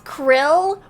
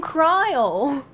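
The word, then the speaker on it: Krile: be proud too it's Krill but I remember them saying cryle I remember other people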